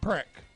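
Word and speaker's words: Precht: Preck.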